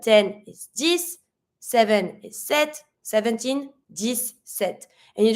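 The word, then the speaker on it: sept: like a s sis set set careful you're not going to pronounce the P you're just going to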